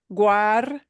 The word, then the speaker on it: guardadas: G-U-A is always gua. We have to pronounce everything. Yeah. In English, if you have the word guard, yeah, we don't really pronounce a U in the word guard, right? But in Spanish, this G-U-A will always be, every sound is pronounced. Guardadas, G-U-A, it all gets pronounced.